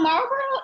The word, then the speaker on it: Marlborough: right now say well it's pronounced like the cigarette company but it's spelled like the English way so Marlboro is I had never